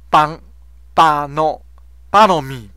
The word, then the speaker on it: bonhomie: 个名词是巴诺米，重音在咪的音哈，巴诺米就是温和，巴，然后 H 不发音哈，NHO 的 H 不发音。